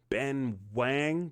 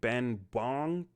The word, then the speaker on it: Ben Wang: This is Lee Fong, the current karate kid played by Ben Wang. Ben Wong. It's an It's an A, but you know, sometimes I mess that pronunciation up. Sorry.